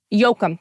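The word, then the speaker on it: Yoakum: So, I want to know why and I um I might be pronouncing her last name wrong, but why is Rock Paper Scissors Love Death by Carolyn M. Yushim Yokum Yokum.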